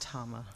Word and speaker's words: Tama: And it's pronounced Tama. Tama, I apologize.